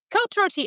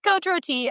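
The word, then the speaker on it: Côte-Rôtie: How did you pronounce this? Kot roti. Ah that sounds best. Thank you. Kot roti or it kind of translates to roasted slopes.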